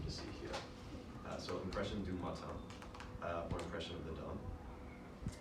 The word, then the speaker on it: du Matin: It's about the same pronunciation in English. Impression de Matin. Du Matin.